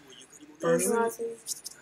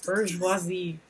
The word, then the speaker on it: bourgeoisie: Bourgeoisie. Fancy ass word. Jesus Christ. Bourgeoisie. Some French pronunciation.